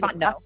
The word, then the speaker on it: Fontenot: I know it's Fontenot. I hate when people mispronounce that.